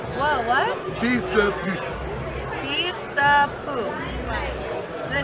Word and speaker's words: fils de pute: Fils de pute. Whoa, what? Fils de pute. Feast the poo.